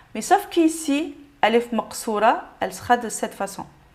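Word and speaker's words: ألف مقصورة: Donc, ça représente la même façon de prononcer la lettre Alef de prolongation. Donc, on va dire A. Mais sauf qu'ici, Alef Maqsoura, elle sera de cette façon.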